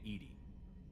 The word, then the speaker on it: EDI: have a specific inquiry why are you named Edy Ed is the phonetic pronunciation of e that is an acronym for